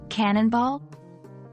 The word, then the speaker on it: cannonball: about how to pronounce Cannonball even though we aren't using phonetics here remember that the emphasis is on the first syllable Canen non ball practicing